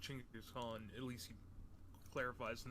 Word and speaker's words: Chinggis Khan: Apparently, it's like we all say Genghis Khan, but it's pronounced Chinggis Khan.